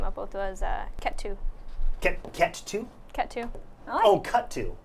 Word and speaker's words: Ketu: name I came up with was uh ketu cat two cat two oh cut two no cat two cat two how do you spell that k-e-t-u yeah catch you perfect I like it catch you simple easy